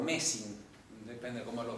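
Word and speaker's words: Mersin: No Mesina, sino o Mesín.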